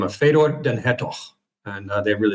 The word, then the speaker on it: Fedor: it and um yeah it's uh so it's pronounced Fedor in my family and then I grew up we moved to Canada when I was five and and it was pronounced Fedor by my teachers and my friends all the